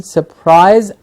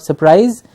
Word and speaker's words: surprise: someone to surprise someone please notice the pronunciation surprise I rise and not surprise it sort of ie it's an I so surprised to surprise